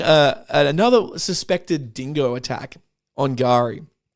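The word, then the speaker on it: K'gari: suspected dingo attack on Gari In the past, I've pronounced this island as Kagari. Uh, but it's but it's um it's not Kagari.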